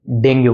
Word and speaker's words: dengue: तो आइए डिटेल में समझते हैं डेंगू को। और वैसे तो डेंगू का असली प्रोनाउंसिएशन या सही प्रोनंसिएशन डेंग है।